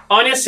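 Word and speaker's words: honest: ऑनेस्ट है, एच से शुरू होता है लेकिन एन लगता है, क्यों? क्योंकि आ की आवाज आती है, एच साइलेंट है।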